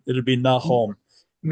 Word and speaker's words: Nahom: All the names in the Bible and in the Book of Mormon, if you pronounce the vowels like Spanish, you come closer.